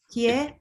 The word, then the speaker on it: Hyères: Hill Fellowship and the Hyères, I don't know if I said that right, Photography Grand Prix. Do you know how to say it? Hyères? Here.